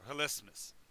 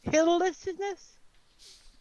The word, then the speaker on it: hilismus: So hilismus, no extra syllable. Hilllessness?